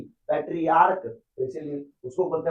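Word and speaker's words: patriarch: पेट्रियर्च नहीं पेट्रियर्क।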